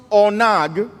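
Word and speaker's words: ענג: And it's a word that is pronounced onag, and onag simply means that you are yielded and submitted to the Lord.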